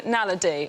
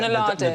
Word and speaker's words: naledi: The Homo naledi, or naladi. Nadali.